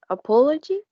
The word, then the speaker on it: apology: Okay, the first one is apology. It has 4 syllables, and the stress is in the second syllable.